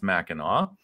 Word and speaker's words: Mackinac: policy uh it is it's spelled mackinac but it's pronounced mackinaw um so sorry for